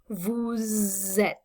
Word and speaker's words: vous êtes: Notice that the S on the end of vous becomes pronounced when you connect it to a word that begins with a vowel. So et begins with a vowel sound. So vous becomes vous êtes. That's an important pronunciation distinction to make.